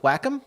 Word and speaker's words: Wacom: uh we're working on a new partnership with wacom i learned that's how you pronounce it by the way and we're happy